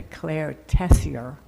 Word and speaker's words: Claire Tessier: Please join me in the chalice lighting as Claire Tessier, she said that was the preferred pronunciation, but she'll also answer to Claire Tessier, who is about to become our newest member in the near future.